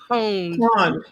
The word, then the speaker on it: pwned: Pwned. Pwned, like owned with a P.